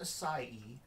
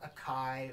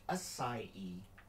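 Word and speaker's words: açaí: And yes, it is pronounced acai, not a kai or a k or whatever.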